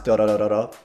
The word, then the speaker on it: Dororo: And that's the proper way to pronounce Dorororo, trust me.